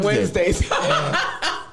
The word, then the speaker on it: Wednesday: You must get paid on Wednesdays. You get paid on Wednesday? The Marie, I gotta play your video. The D is silent.